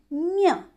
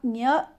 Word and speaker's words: ञ: ञ आपको इसी तरह से उच्चारण करना है। आप ञ, यहाँ पर जो गलती होती है, आप जब इसका उच्चारण करते हैं तो इसका उच्चारण य से करते हैं, य म, और जब